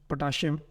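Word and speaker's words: potassium: इनको सीन के साउंड से भी पढ़ा जाता है और असल प्रोनाउंसिएशंस यही हैं, जैसे मैग्नीशियम, पोटेशियम एंड कैल्शियम। लेकिन हमारे यहाँ एशिया में चूँकि इन्हें शीन के साउंड से पढ़ते हैं तो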